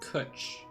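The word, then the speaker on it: cwtch: think it's vaguely metroidvania-like it's pronounced kutch rhymes with couch crutch oh i don't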